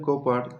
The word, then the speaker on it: Cowper: ডব আই উচ্চারণ যেটা হয় সেটিকে তারা বলে ভি আই তো ভিলিয়াম বলে কৌপার এই উচ্চারণে যে আর আছে শেষ সে আর এর উচ্চারণ কিন্তু হবে না এটার উচ্চারণ হবে কপা